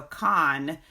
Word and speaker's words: Khan: So Khan, like, Genghis Khan, it's spelled Kahn.